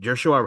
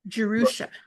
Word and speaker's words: Jerusha: Written and directed by the husband and wife duo of Jared and Joshua Hess. Jerusha, thank you. I was pronouncing that wrong.